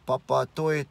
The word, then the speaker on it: Papatoetoe: tea a blunt T almost the tea and pronouncing it to a and in ending two of those together 2012 you have Papa toyatte where he almost sounds the same but you